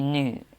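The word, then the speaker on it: nous: Actually, nu. We don't really pronounce S in French.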